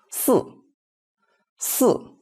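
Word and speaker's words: 四: So for this SI fourth tone we read it as S S. So remember the letter I is not read as E here.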